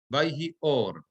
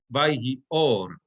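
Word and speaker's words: וַיְהִי אוֹר: Vayomer Elohim yehi or, vayhi or. Right? Again, 2 words over there connected with a hyphen. Vayhi or, and the meteg is under the aleph. Vayhi or. This is where my accent goes.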